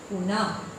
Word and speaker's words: पुनः: जैसे इससे देखिए क्या शब्द बनेगा, पुनः, पुनः। लास्ट में क्या आ रहा है उच्चारण में, ह। इसका उच्चारण ह में आता है, लास्ट में इसका उच्चारण ह होगा।